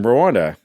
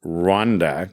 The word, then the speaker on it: Rwanda: And eventually we ended up in Rwanda. And if you pronounce Rwanda is how we would say it in Canada, the better way is Rwanda cuz it's actually RW. It's not R A W, but for the purpose